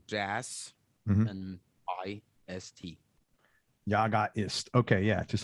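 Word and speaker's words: Jaga: his band it's called uh your guy assist spell that it's j-a-g-a right and space and like jazz and i-s-t yaga is okay yeah just like you said it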